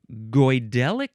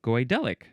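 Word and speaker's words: Goidelic: Number two of relating to or constituting the godelic speech of the Kelts in Ireland, the aisle of man, and the Scottish Highlands.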